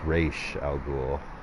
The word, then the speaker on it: Ra's al Ghul: Liam Neeson was Ra's al Ghul, that was cool. Or no, Raish. My brother likes to correct me. It's Raish al Ghul, because that's the way they pronounce it on the show Gotham, which I haven't seen.